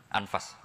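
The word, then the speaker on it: أنفس: saya saja di sini ditulis anfusil kutub saya baca anfasil kutub karena maknanya kitab ter baik Kalau kitab terbaik bacanya bukan anfus tapi apa anfas ya nanti kamu debat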